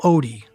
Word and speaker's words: Ott: You're interested in the Daniel Ott file. Right. Donna is mispronouncing his name, but Daniel Odie was the man who